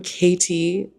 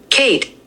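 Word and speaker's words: Khaite: Let me let me try one more time. Uh K Katy. Um since I actually like this bag, let's learn how to say learn how to say it together. Kate. Oh. Oh. Kate. Um my bad. You just say it. Kate.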